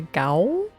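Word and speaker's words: gaol: I was like, the gowl? Oh, old spelling for jail.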